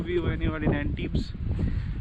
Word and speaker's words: Antibes: It's good place to be when you are in Antibes. It's not Antibes actually. The pronunciation in French is actually Antibes.